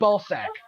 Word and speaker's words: Balzac: character's name is Angela Balzac but they spelt they spell it be they felt like ba Elle's GA see but it sounds like ballsack and it's just this